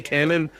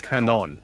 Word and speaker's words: Canon: I say Cannon, but it's Canon.